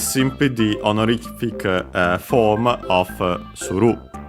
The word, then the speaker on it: suru: So yeah, it's simply the honorific form of suru. Suru, unaccented, to do, the most common form, but yeah, we have this honorific one, nasaru, I think accented, yes, accented.